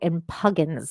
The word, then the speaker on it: impugns: I've never heard the word impugns in my life.